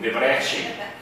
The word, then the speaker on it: Debrecen: beiram o impronunciável, como Debrecen e Miskolc. Em geral, quando termina com C, eles pronunciam com CH.